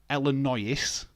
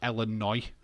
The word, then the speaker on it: Illinois: yeah so Illinois is that's what that says elino but you say it like Illinois you've got what why